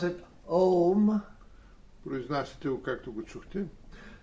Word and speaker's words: Om: So you don't pronounce it Aum like that. Вие не произнасяте Аум, You pronounce it Om.